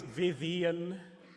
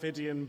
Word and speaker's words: Vidyan: So apparently it's Vidyan, not Vidyan, but since I've been getting it wrong this long, what can one do?